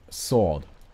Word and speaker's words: sword: don't pronounce letters like sword like it's it's written SW sword no sword something wrong that's how you write it but you pronounce a sword I just like no